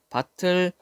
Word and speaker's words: 밭을: 밭을, 자, 의미가 없는 모음으로 시작하는 조사 을이 왔어요. 그럴 때는 그대로 뒤로 넘겨서 발음하면 돼요.